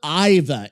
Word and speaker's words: Aiva: Let us hope this major Iva has more strategic elegance than most.